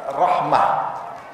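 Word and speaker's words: رحمة: Rah Rahmat sama sama Rahmat itu kalau bahasa Arab Rahmah karena karena ra dibacanya apa Ra Rahmah Rahmatullah rahmatullahi wabarakatuhu alikum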